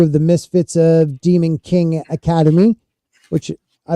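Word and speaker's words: Qin: yeah uh q i n now that's actually pronounced kin right so that's how it but in uh in season three I think they pronounce it Keen or something like that they're like Keen dogs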